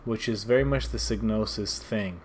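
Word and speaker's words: Psygnosis: Snosis, the P is silent.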